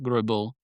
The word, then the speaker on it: Greubel: So, so Robert Grubil, which is again Robert Gribble, he's a a Frenchman.